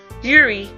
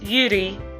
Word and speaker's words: Yuri: Yuri, it's Yuri, I mispronounced the R on that, who appears comparably more